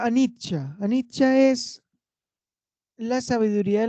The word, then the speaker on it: anicca: Y se pronuncia anicca.